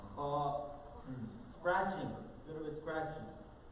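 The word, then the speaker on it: خ: kha, one difference is the ha is pronounced from the middle of the throat, kha is pronounced from the beginning of the throat. Another main difference and major difference is one is pronounced empty mouth and the kha with the dot one is full mouth.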